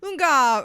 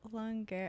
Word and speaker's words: Lungaro: Yeah, Lungaro. Yeah. Maybe it yeah. really is the Italian pronunciation. Lungaro. Garo. Like they Yeah. say their A is like air.